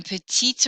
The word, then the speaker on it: petit: Talking about computers, ordinateur, j'ai un petit ordinateur. Petit, I don't usually hear the final T, but when that O follows, I do.